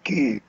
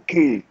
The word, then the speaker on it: cul: Baise mon cul. Kiss my ass. Cul. Yeah. Is ass. How do you spell that? C-U-L. C-U-L. Oh, like cul de sac.